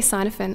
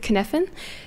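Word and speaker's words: Cynefin: I say cynophin, I think I'm saying it wrong. He said kinephin, the kinephin framework.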